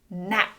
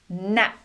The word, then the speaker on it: gnat: Gnat. Gnat." You can see "G" is often silent before "N" when it starts a word.